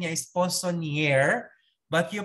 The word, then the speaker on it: poissonnier: Ang spell niya, ang ano niya, sa spelling niya is poissonnier, but you pronounce it poissonnier.